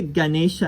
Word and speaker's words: Ganesha: It looks like an E, but it's pronounced A. As in Ganesha. It's really Ganesha and not Ganesha.